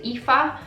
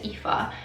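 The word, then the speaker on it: Aoife: And then another one that's really stood out to me is the IFA, or A-O-I-F-E, I think it's pronounced IFA.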